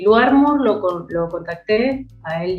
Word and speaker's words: Lou Armour: o el Lou Armour, no sé cómo se pronuncia, ¿no? Lou Armour.